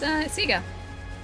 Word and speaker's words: Sega: Ali started revising the way Sega's pronounced. It is, yeah. It's Sega.